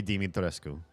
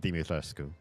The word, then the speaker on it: Dimitrescu: Her last name is Dumitrescu, right? If I remember correctly. Let me double check on that. Lady. Is it Domi or is it Dimi? Dimi. Lady Dimitrescu.